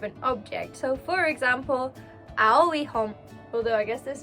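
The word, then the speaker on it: 青: You say ao, ao. And in the case of blue too, you add an e at the end, aoi, before you describe an object. So for example, aoi hon, although I guess this is a Kindle,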